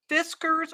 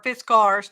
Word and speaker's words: Fiskars: It's a Fiskars or Fiskars, depending on how you want to pronounce it.